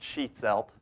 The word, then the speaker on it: Schietzelt: for too many people my last name is sheet salt it's pronounced sheet salt I'm I am the criminal